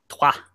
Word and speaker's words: Troyes: And how do you say Troyes? Is it Trois? Trois. Trois. Okay. I like that. Un, deux, trois. Okay, so they lost at home to Montpellier, who it's not a big surprise there.